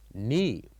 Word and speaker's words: knee: And in this case, if you want to say this word, we uh don't say uh K. We say knee. Knee. So the K here is silent.